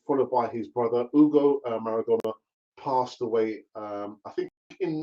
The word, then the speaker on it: Maradona: The other news that I actually wanted to kind of tell you about was apparently Diego Maradona's a younger brother, Hugo. It's not Hugo. I mean, in Spanish, you don't pronounce the H, it's silent, so it's Hugo.